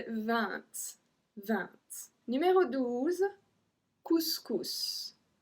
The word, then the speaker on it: couscous: Couscous. Couscous. It's a dish. If you don't know what is it, just Google it. Couscous. So we pronounce the S as well on this one.